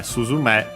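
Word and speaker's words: すずめ: But yeah, suzume is to sparrow. Unaccented on its own.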